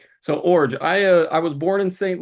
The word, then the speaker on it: Iorg: The last name's pronounced Iorg. That's the hardest part to figure out of all this, how to pronounce my last name. But yeah, the I silent, G like a J.